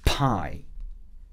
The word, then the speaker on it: pie: 그리고 파이도 마찬가지로 한국말로는 두 글자죠. 파이. 그렇지만 영어에서는 한 글자짜리 단어예요. 이름절짜리 단어인 거예요. 그래서 pie 이렇게 한 번만 소리 내면서 돌려주면 이름절 단어가 완성이 돼요.